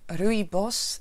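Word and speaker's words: rooibos: biomatériaux y passe exotique alors je le prononce à la sud-africaine rebirth s'éteint dans la langue afrikaans une des treize langue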